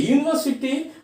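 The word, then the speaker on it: university: यूनिवर्सिटी, you vowel है लेकिन इसका उच्चारण य है, इसलिए यहाँ ए लगाएंगे।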